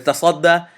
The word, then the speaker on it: تصدى: The word is tasadda, and I will spell it and pronounce it next.